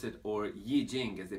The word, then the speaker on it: I Ching: personality as well as we pronounce it or ye Jing as they pronounce it in China is essentially study of